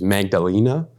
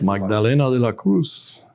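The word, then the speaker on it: Magdalena de la Cruz: the book I believe the pronunciation is magdalina yes magdalina De La Cruz who uh fooled everyone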